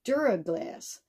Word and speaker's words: Duraglass: It's a, and when she handed it to me, I immediately looked at the bottom and it said Duraglass, and it's spelled D-U-R-A-G-L-A-S.